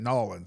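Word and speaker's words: N'awlins: Which, in fact, I love saying it, Nolans. That's how they say it, Nolans.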